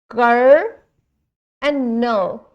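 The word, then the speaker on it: colonel: Of course there is c o l o n e l but we are not going to pronounce as the letters arranged in them.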